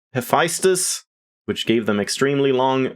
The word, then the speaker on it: Hephaestus: you now pronounce that it's either Hephaestus or hephaestas or how I would normally say it Hephaestus which gave them extremely